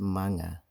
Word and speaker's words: mga: Pluralization of impersonal nouns is achieved by inserting the word mga, mga, pronounced manga, in front of the noun.